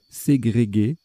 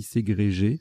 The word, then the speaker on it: ségrégué: Ségrégué, qui s'écrit, qui se dit aussi ségrégé sans le U, et subdélégué pour frimer.